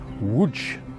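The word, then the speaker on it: Łódź: we arrived in Lots which is spelt LOD Z but actually pronounced wood which is the third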